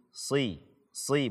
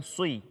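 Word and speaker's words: صِرَاطَ: Si, bukan sui.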